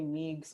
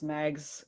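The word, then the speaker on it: Meigs: uh well they they sent montgomery like montgomery meegs mags how do you say his name because meg's okay good um he ends up going down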